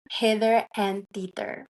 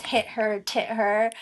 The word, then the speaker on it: Hither and Tither: I love the name Hither and Tither. And I think a lot of people probably Question. question. They're like, how do you say this? Hit her, tit her, um, hither and tither.